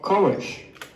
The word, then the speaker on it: courage: So you have to be much stronger with r sounds at the beginning of syllables. You need to use a standard English pronunciation, not the Brazilian h.